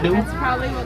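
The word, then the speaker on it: gnu: But you could also call them new. It's spelled G-N-U, not N-E-W.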